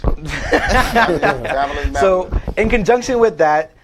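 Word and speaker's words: Babyliss: I say Babyless because it rhymes with fabulous. Babylous.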